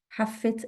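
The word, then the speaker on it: حافّة: the window حافة الشباك double فا حافة الشباك the sewers المجارير أو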